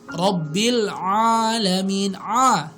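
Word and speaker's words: رب العالمين: Kalau bacanya Robbil Alamin, itu akan berbeda ya tentunya maknanya. Harusnya gimana? Robbil Alamin, pakai ain.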